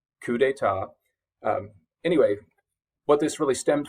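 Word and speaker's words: coup d'état: that reference or you make that reference, you pronounce it correctly. Coup d'etat.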